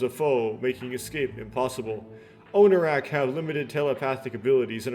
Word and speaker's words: Onarak: That being said, I am pronouncing these things like Onarak and not Onarok, but Onarak is not